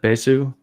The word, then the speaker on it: Besu: We can show that because the project has been patched right there for Hyperledger's, I don't know how you pronounce that, Besu? Besu, yeah.